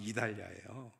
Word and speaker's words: 이달리아: 그때 이달리아는 이탈리아를 옛날식으로 발음하면 이달리아예요.